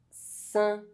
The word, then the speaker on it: saint: EIN is pronounced un. Saint. Rein. Peindre.